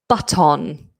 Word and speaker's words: button: Most people say mirror or doctor, doctor, button, you might hear. So just remembering that o n or o r ending is in most cases awah. So give it that weak ending button.